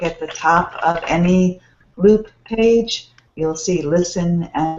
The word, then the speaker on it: LEWWWP: many we tried uh loop is the name of our site uh loop l e w w w p mhm your name you say loop yes we pronounce it in the loop with loop so our site is